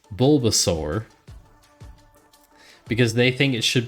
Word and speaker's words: Bulbasaur: like how I pronounce Bulbasaur because they think it should be Bulbasaur because it's a a u r but I think it's Bulbasaur not sore yes uh go walk